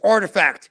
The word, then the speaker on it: RTFKT: And it's Artifact, but it's spelled RTFKT, something like that.